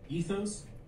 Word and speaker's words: ethos: You may hear them pronounced in various ways. For this tutorial series, we'll use the following pronunciations: ethos, pathos, logos.